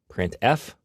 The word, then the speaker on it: printf: They are pronounced: printf, putCar, and puts.